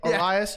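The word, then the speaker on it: Urías: Urias? Is that how you say it? Urias?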